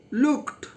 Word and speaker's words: looked: Look, looked. Not looked. What is you say? Looked. T. Say pronunciation, not d.